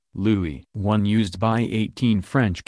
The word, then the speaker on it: Louis: French name sacre bleu lui is pronounced lui rather than Louis but some joked it